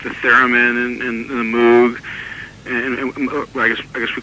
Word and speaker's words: Moog: I would call it a moog too. I don't know whether to call it a moog or a moog. I call it a moog, but I think it's supposed to be pronounced moog.